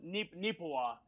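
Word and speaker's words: Neepawa: Well, it's actually pronounced Neepewa.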